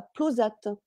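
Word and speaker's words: Plauzat: euh ou d'ailleurs à plosat c'est ça plosa ça se prononce pas le T non en overne il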